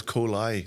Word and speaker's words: Kohli: Was it a bad time to point out you've mispronounced my name for the last hour? Ever? You at it? I'll answer to, but. There you go. Aye. And it's Kohli.